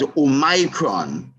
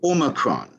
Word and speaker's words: omicron: name omicron um really some people may want to pronounce oh micron but the i seems to be silenced as omicron and the world health